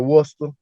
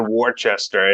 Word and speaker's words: Worcester: Falls some of the the PA person said warchester and yeah everybody on the sidelines was like